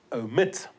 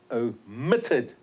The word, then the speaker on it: omit: we are double t omit stress is on the final syllable o mitted double t all right okay before